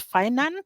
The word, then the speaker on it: Finan: happy that you reminded us the name is finan so our viewers that's how the name is pronounced so what services do they offer there yeah it was funny you say uh most people call it finnin and I had a tagline for many years